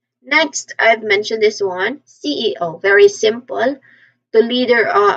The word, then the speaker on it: CEO: The final letter often receives a slightly emphasis here. So just make sure to pronounce each letter clearly and distinctly. We say it as CEO. Pronounce the the primary stress is an O. CEO again CEO. Third consultant.